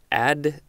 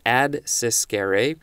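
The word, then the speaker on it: adsciscere: Or adscescere, A-D-S-C-I-S-C-E-R-E. I know that the C's are pronounced K sounds, I think, all the time, but I am not 100% sure on this one.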